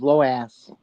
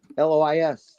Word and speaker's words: Lois: time anyways my mom my mama's name was lass spell that l o i s lass it's actually Lois what loow is low is what LO my dead is called her low ass he called her low